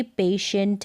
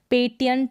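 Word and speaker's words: patient: है, आई ए है, तो इस तरीके से आप समझ जाएंगे कि टी को वहाँ पर हम श पढ़ेंगे। जैसे कि पेशेंट है, रेशो है, उच्चारण यहाँ पर दे रखा है, रेशो है, पोर्शन है, और पार्शल है, क्या है, पार्शल है। अब इसको पेटेंट नहीं पढ़ते हैं, रेटो नहीं पढ़ते हैं, पोर्टन नहीं पढ़ते हैं, पार्टियल नहीं पढ़ते,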